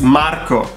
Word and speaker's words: Marco: It's Marco. Marco. Marco. And this is how I learned my pronunciation. Mar correctly. So rolling the R in Italian is extremely important. Every time there's an R, it's an R.